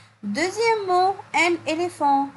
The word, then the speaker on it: éléphant: Deuxième mot, un éléphant. On a dit le PH se prononce quoi? Se prononce F. Donc oui, ici dans le mot un éléphant, j'entends le son F.